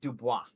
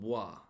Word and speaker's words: Dubois: The right pronunciation is Dubois. That's how you pronounce it. Dubois. Forrest Lee does say Dubois, so I do like that.